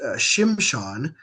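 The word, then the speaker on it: שמשון: The Hebrew word is Shimshon. That's how they would pronounce it, and that on is used in quite a few biblical names.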